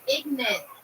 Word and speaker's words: Ignant: scamman Jay Hawkins guys This song is called ignant and and that's how it's pronounced ignant ignant and